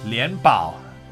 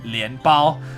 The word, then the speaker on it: 连宝: Anyway, 连宝, not Lian Bao. I know. It's just funny that it also could mean, like, if I said it wrong with the wrong tone, is Lian Bao means Lotus Bun as Illusion Queen, but her name is Lian Bao, which is yay, she's a treasure.